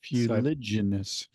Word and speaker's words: fuliginous: Almost. It's Fuliginous. Fuliginous. I put in an extra E at the beginning.